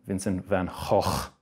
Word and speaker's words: Vincent van Gogh: Van Gogh. Or as the Dutch call him, Vincent van Gogh. Sounds like you're choking on a chicken bone when you say his name.